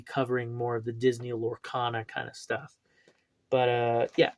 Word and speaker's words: Lorcana: That's how you say it, Lorcana.